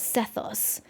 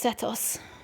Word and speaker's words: Sethos: pronounces his name as sethos but in Egyptian the H is not pronounced so it's satos so quite a conundrum